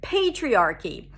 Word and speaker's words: patriarchy: pronounce the word patriarchy the first syllable is pay as in i need you to pay for this a p sound and the a as in day when the p appears at the beginning of words it's aspirated so it feels like there